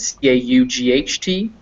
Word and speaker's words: cot: merger and that's when those two words c-o-t and c-a-u-g-h-t sound the same so when i say them they're caught and caught they're the same pronunciation because i do have that merger so that pronunciation right